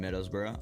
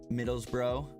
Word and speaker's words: Middlesbrough: That that those are the way you the way you guys pronounce certain words like burrow bro. Like middles bro. Take off the g uh ug and it's just middles bro.